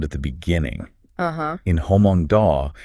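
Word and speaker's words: Hmong Daw: the beginning uhhuh in Hong da it's pronounced with aspiration so it's kind of like a breathy okay but in Mong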